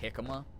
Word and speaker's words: jicama: It's pronounced jicama.